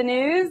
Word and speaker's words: Gnooze: Hello and welcome to the news. The G is silent.